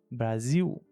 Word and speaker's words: Brasil: seja, na palavra final, na palavra Brasil, que tem L como a última letra, nós pronunciamos no Brasil como U, como a letra U. Brasil final, certo?